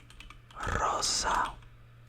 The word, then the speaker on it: rosa: have pink which is Rosa Rosa Rosa Rosa Rosa now here you roll your R but not like Verde like Rosa is just like a quick roll of the r but still that sounds